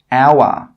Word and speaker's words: hour: Another rule with H is that H is sometimes silent when it comes at the start of a word. Some common examples are hour, honest, honor. In all of these words, we are not pronouncing the H sound. We are not pronouncing the letter H.